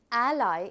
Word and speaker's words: ally: This is a little significant here because ally is the right pronunciation. I hope all of you are able to pronounce it correctly. We call it ally.